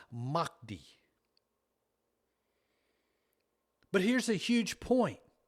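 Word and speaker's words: Mahdi: Their Messiah is called the Mi is actually pronounced Makti.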